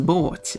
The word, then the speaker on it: båt: Actually, the Swedish word for boat is båt, which is pronounced very similar to the northern British dialect. Boat.